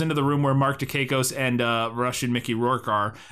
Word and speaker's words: Dukakis: But so then Wolf goes into a room, goes into the room where Mark Dukakis and Russian Mickey Rourke are, and immediately just snaps Russian Mickey Rourke's neck with a belt.